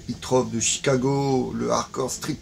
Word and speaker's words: Zoetrope: Zoetrope, mais il faut le prononcer Zoetrope de Chicago, le hardcore street metal de Zoetrope.